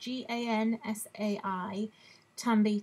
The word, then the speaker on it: Gansai Tambi: And these, it's pronounced Gansai Tambi, Tambi.